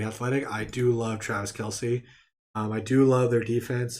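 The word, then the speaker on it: Kelce: He did come out and say how the proper name to say his name was Kels, Kelsey, from what we always call them.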